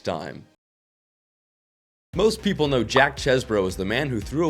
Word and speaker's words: Chesbro: His last name at birth was spelled like this and pronounced Cheeseboro, but he would become known as Chesbro because he would write his name that way, although he never legally changed it.